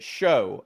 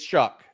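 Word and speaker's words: Shough: say it wrong no it looks it looks like you should say it show I I said it like but but it's shuck um and the only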